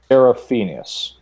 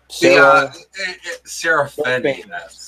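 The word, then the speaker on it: Codex Seraphinianus: The Codex Seraphinius. I'm sorry. Wow, I butchered that again. Seraphinius.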